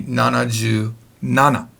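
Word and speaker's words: 七十七: Now, if you remember the rule of 70, it can't be shiju. It cannot be shiju. It has to be nanaju. So you could say nanaju shichi if you wanted to, but that's weird. This should be nanaju nana.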